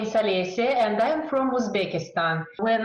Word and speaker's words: Olesya: First thing I really need to check with you is I've never checked with you the pronunciation of your name. So is it Olesya? Yes, Olesya.